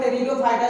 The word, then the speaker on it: Pteridophyta: इसका नाम तो है टेरिडोफाइटा, लेकिन शुरू होता है इसका स्पेलिंग पी से।